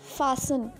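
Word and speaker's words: fasten: फासन, T is silent.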